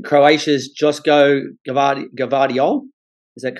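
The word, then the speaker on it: Joško Gvardiol: Excuse the pronunciation. Croatia's Josko Gvardiol, is that correct?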